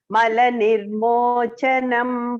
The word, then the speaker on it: मलनिर्मोचनम: CA is cha here. Okay. Malanirmochanam punsam malanirmochanam pumsam jalasnanam dine dine jalasnamanam dine dine sakrid geetambasi snanam sagrit gitambasi snanam संसारमलनाशनम samsargash malanashanam.